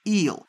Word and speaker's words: yl: the parent with the ending y l which we pronounce is eel for instance the substition